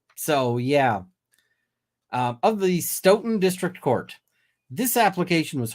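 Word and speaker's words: Stoughton: of the Stout uh stouton District Court I hope I'm pronouncing that right I every time I say stouton somebody says Nope or Sten um so yeah um of the Sten District Court this application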